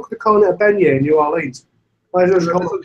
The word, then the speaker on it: beignet: I was just wondering how you're getting on with the Benau or whatever, however it was pronounced. Bagnet. Bagnet. The Bagnet. Yeah, the banana Bagnet. Beignet.